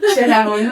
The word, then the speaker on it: Schaer: J'ai bien prononcé Scherer en fait. Oui, Scherer, non, c'est pas.